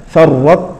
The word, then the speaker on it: فرطتم: النطق بالحرفين كالثاني مشددا ف الطاء الاولى تدغم في التاء فرتم فرتم فرتم فرتم كان الطاء يعني ذهبت تماما بقي رسمها ولكن نطقها ذهب كذلك احطت احطت فلا